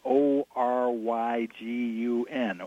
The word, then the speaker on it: Oregon: sticker stickers to put on cars that say o ry g un oregon outsiders are from pronounce it Oregon or Oregon oh my god